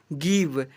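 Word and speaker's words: give: जी आई वी E last में आ रहा है। गिव बी आई के ई बाय के ई का उच्चारण ही कभी नहीं हो रहा है।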